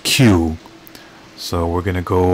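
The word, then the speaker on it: Kew: encounter when you're there okay so it's pronounced q so we're going to go over there to the queue garden and take care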